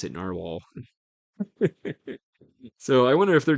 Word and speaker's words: Nahvalur: well and I've I've definitely become addicted to novel or now it they do say You're supposed to still pronounce it in our wall but it's very difficult for me to look